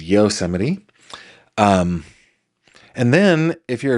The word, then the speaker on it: Yosemite: A lot of people pronounce that Yosemite. It is Yosemite.